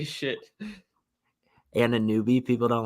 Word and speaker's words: Anunoby: Anunoby. People don't like how I'm pronouncing names out here. I was about to call you out for it, but I was like, I'm just gonna. I know it's Anunoby.